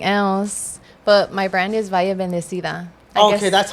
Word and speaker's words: Valle.Bendecida: I'm an artist from the San Fernando Valley, and I go by KellyCoolCat on everything else, but my brand is Valle.Bendecida. Okay, that's how you pronounce it.